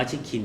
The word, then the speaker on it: Chikin: เป็น เกาหลี นะ ครับ คำ ว่า ชิคิน เนี่ย คือ การ ออก เสียง ทับ ศัพท์ ภาษา อังกฤษ ของ คน เกาหลี ของ คำ ว่า Chicken จึง เป็น ที่ มา